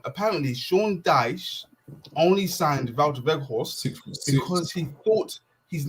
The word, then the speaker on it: Wout Weghorst: Don't say it like that. Wout Weghorst. I'm only going to say how it should be said. Wout Weghorst. Wout Weghorst. Weghorst, yeah, it's Weghorst.